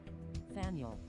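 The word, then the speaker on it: Faneuil: Faniel.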